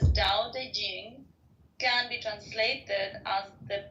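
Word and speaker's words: Tao Te Ching: is his best reward D Ching pronounced more or less da Jing can be translated as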